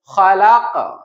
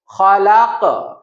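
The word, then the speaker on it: خلق: সুতরাং অক জায়গায় সুতরাং দ্বিতীয় অবস্থানটা হলো শব্দের শেষ অক্ষরে অথবা থামার জায়গায় কলকলার অক্ষরে সুকুন চিহ্ন হবে। তখন আমাদেরকে মধ্যম পর্যায়ের কলকলা করতে হবে। মানে সাধারণ কলকলের চেয়ে একটু তুলনামূলক শক্ত প্রতিধ্বনি তৈরি করে উচ্চারণ করতে হবে। যেমন আমাদের খুব কমন শব্দ আমরা এনেছি খলাক।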